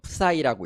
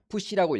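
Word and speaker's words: psi: 이렇게 보시면 나올 거예요 이거를 어 사이라고 읽어요 예 뭐 푸시라고 읽기도 해요 그리스 레터의 24번째 뭐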